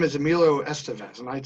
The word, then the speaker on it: Emilio Estevez: And when he introduces himself to others, he says, I'm Emilio Estevez. So however he says it is the way we should say it.